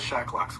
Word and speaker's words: Shacklock: go check out Michael Shacklock's work. Michael Shacklock's? Yeah, Michael. Is that how you say it? Yeah, Shacklock. SHACKLOCK. Oh, Shacklock. Okay.